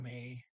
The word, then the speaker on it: med: Ta me means bring. So she's saying, please just bring milk. Okay, ta me, bring. See here, and the D and may, MED is silent.